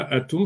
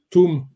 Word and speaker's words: Atoum: Normalement, ça ne se prononce pas Atoum, ça se prononce Tam, Toum.